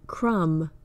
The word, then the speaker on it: crumb: for when the B is silent words like crumb lamb plum the B follows the m at the end of the word and that indicates that it is usually silent an exception is the